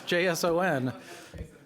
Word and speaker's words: JSON: Yeah, but it's spelled funny. There's no A in it. It's JSON.